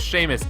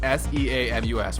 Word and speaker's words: Seamus: So, my name is Seamus, S-E-A-M-U-S, which is pretty badass, if I might add. But if you mispronounce my name, you get Seamus, kind of,